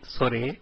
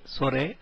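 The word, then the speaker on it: それ: Please note the last letter E is actually pronounced as A, and so these should be pronounced as kore, sore and are and not as kor, sor and are.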